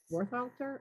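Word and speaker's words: Worthalter: I saw a picture of Warthalter, is that how you pronounce his name?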